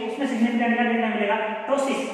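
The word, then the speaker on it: ptosis: अगर उसमें बात करें तो हम कह सकते हैं कि उसमें सिग्निफिकेंट क्या देखने मिलेगा, टोसिस, क्या बोलते हैं पी साइलेंट है टोसिस।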